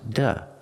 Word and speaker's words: to: a vowel example fly the letter y is a vowel so if I have 2 after it it's pronounced da example fly to fly